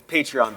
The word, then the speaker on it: Patreon: that's hollow excuse us it's patreon because uh we have a lot of patrons of the arts and so we sort